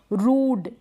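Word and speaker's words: rude: रूड।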